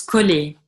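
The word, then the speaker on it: كُلِي: To a person, like kuli. To a woman, you would say, like to the feminine is kuli. And to the masculine, it's kul, like enta.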